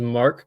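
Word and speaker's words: Marque: His name is Mark Collins, but it's spelled M A R QE.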